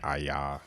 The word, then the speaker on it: Aia: Pronounced like Aya.